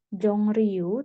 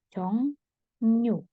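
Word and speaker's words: 종로: itu nanti akan dibacanya bukan Jong ru tapi jongyu Nah jadi bacanya seperti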